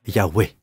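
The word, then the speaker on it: Yahweh: amis vous m'avez déjà beaucoup aidé cela se prononce donc y ou yahweé nous venons de le chanter n'est-ce pas you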